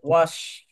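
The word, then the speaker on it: wash: তারপর ওয়াশ। ওয়াশ স, স উচ্চারণ শেষে এই এস এর উচ্চারণ স্বর মতো তালব্য স্বর যে স, এটা এস এইচ একসাথে হলে তালব্য স হয়।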